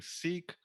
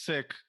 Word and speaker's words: Sikh: that retroflex sha so they replace that with a k sound and that's how shish becomes sick so in the western you know diaspora people have started saying seek instead you know to make it more clear obviously so the word doesn't get confused with like illness but right uh you know in actuality it's sick uh people say sikhism